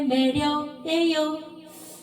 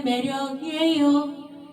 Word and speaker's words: 매력이에요: 그대는 그게 매력이에요. 예.이를 두 번 내 주세요.